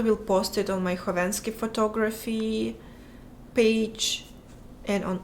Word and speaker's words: Khovanski: The K is silent in your last name. It is silent. It's Khovanski. Because I added K because KH is meant for the H sound in English.